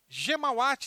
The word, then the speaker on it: Ghemawat: Ghemawat escreve G-H-E-M-A-W-A-T.